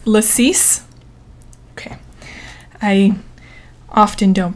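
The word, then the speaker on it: lacis: drink too oh and thank you Brooke for it's lassis okay I often don't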